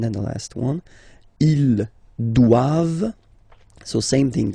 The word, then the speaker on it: doivent: And then the last one, ils doivent, so same thing, classic ending for the plural form, ENT here, okay, but then you don't pronounce it.